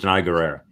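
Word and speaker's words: Danai Gurira: I think that Diana, because it's Denai. No, because that's how you pronounce it. Denai Guerrera.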